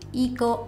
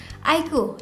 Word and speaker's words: iQOO: Penulisannya sih Iko OO gitu ya. Tapi bacanya bukan Iko, apalagi Iko Uwais tuh bukan banget. Tapi melainkan IQ.